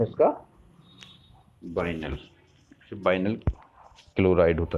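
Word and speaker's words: vinyl: जैसे बिनाइल भी बोलते कभी कभी उच्चारण में। तो सही उच्चारण है इसका बाइनल।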